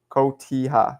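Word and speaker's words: Cotija: Kotiha.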